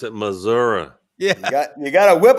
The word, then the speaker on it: Missouri: You got to pronounce it Missouri.